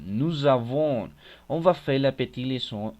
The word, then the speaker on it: nous avons: ils ont ells ont mais attention en la prononciation nous avons on va faire la Petiton entre nous et